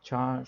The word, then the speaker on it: char: call it as char some people can pronounce as a char some people say scare so i think the correct pronunciation is char right so this is